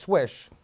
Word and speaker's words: Schweich: charlie h and henry and although it's it's pronounced swish it's uh it's it's spelled a different way